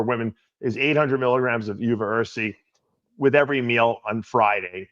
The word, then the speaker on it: uva ursi: If I'm pronouncing it correctly, is it UVA or UVa? UVa Ursi.